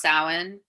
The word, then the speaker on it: Samhain: be pronounced and it's samhain left and right my dad did not get it when i told him it was pronounced samhain he was like but that